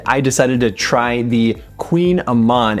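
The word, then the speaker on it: kouign-amann: And I decided to try the Queen Aman. And it's spelled kind of interesting. It's actually K O U I G N A M A N.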